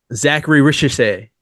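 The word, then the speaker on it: Zaccharie Risacher: Zachary Ricochet.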